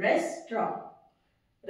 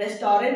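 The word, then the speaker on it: restaurant: आर ए एन टी इट इज रेस्टर रेस्टोरेंट नहीं है यू डू not this T will not come T is silent in this word है ना इट्स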